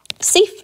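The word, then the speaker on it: Siffre: is thief's famous cave study his name is pronounced safe he's a french caveman that was his job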